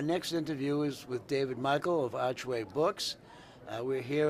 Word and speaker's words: Meikle: I'm good, but my name's pronounced Meikle. Meikle, excuse me. That's all right. So if you want to Why start is it that spelled over, the way it is then? because it's Scottish and not German.